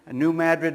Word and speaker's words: New Madrid: I understand the proper pronunciation. New Madrid, Missouri, down in the boot heel of Missouri.